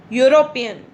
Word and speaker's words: European: It is starting with E, but the sound is Y. European.